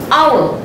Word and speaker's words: hour: But H is a silent letter. So we do not say hour, we say hour.